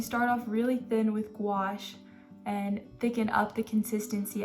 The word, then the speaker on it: gouache: And so gouache, which rhymes with squash, if you didn't know, that's how you say it.